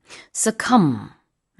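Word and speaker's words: succumb: How do you spell this word? Su cum b. 음. 뒤에 이렇게 발음하진 않고요. 네. B는 사일런트입니다.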